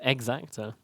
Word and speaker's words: Exacta: It's not Zacta. It's Exacta. Yeah.